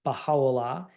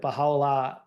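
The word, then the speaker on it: Bahá'u'lláh: where Bahala and I put the pronunciation up there. The ha is the is the emphasis. This was the last place that Bahala um lived under house arrest.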